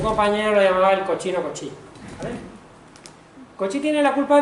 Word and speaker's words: Cauchy: Se escribe Cauchy pero se lee Cauchy. Un compañero lo llamaba el cochino Cauchy.